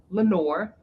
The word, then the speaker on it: LeNoir: So the L in my name is LeNoir, is the way that I pronounce it here in the US.